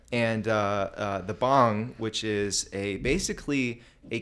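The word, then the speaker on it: bhang: the white so bong not like the bong you smoke out of b-h-a-n-g okay so uh some people pronounce it bang there's actually a company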